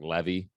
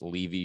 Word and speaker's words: Levy: That Levy is Levy. It looks like Levy, by the way. It is pronounced Levy for the sake of God.